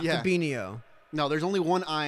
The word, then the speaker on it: Fabinho: All right, they're finally pronouncing his name right. Fabinho, not Yeah. Fabinho.